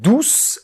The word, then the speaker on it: douce: after, we have « douce » with this time an unvoiced - S. So then this time, we will close the mouth a little and allow less air to pass.